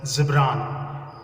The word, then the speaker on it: Gibran: It should be pronounced as Gibran. Khalil Gibran.